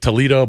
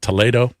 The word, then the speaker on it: Toledo: to a town called Toledo, spelled like Toledo, but it's not. It's pronounced Toledo.